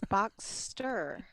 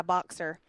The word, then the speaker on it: Boxster: get flack for it it's Boxster ya box tur buxter I challenge you to say it differently my grandmother always calls it my boxer I'm like I'm just